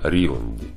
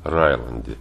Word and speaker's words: Риланд: Так вкратце данные из переводной Википедии о Генри Риланде. Или Райланде, по-разному можно произносить, как я понял.